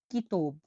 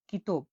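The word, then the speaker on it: kitob: পরবর্তী অক্ষরটি হলো কে, কে উচ্চারণ হয়ে থাকে ক এর মতো। উদাহরণ আমরা দেখছি, দেখুন, কিতব, কিতব, কিতব মানে বই, তাহলে বইকে উজবেকে বলা হয় কিতব, কিতব মানে বই, কিতব।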